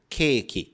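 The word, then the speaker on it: ケーキ: Aí nós temos esse traço que ele serve para prolongar o som da letra anterior. Então, quando juntamos a letra que com esse traço, você vai pronunciar que. Então, ele tem esse prolongamento. E no fim, temos a letra com o som de ki. Juntando tudo, keiki.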